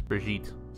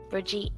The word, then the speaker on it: Brigitte: It's Brigitte. Brigitte.